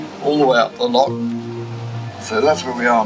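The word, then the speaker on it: Lough: Frankfurt Loch, they spell it Irish, they spell it L-O-U-G-H.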